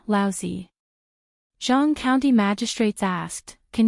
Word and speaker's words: Laozi: Li Mu corrected his pronunciation and said, Laozi.